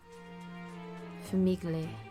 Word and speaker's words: famiglie: My friend just told me how this word is pronounced because it's like Italian. Famiglie, as they took their seats.